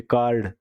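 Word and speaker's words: card: कार्ड, तो हम are silent है यहाँ पे, कार्ड, कार्ड बोला है इसको, इसे हम बोलते हैं कार्ड ये वाला, या कार्ड, ठीक है? मतलब आर है ये साइलेंट है।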